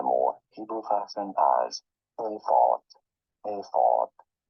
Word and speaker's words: ephod: In English, this is normally pronounced as ephod. Ephod. So what I think is happening is my English, my American English, is getting sometimes confused with pronouncing the Hebrew word.